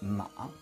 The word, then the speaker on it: 马: here is the sound for it which is ma ma ma so inside all the other characters